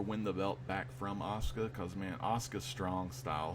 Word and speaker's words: Asuka: other people women Champion Asuka as Asaka Asuka did I say Asuka Asuka Asuka that's her damn name Asuka okay so it's spelled